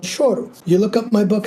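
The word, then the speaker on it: choro: on Amazon it's called shoru yes can you tell everyone that it's it's pronounced that way and it's spelled c h o r o so it's not CH it's sh and it's a genre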